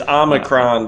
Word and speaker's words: omicron: let's talk about omicron that's how you say it right it's an oh it's omicron brother damn it uh omicron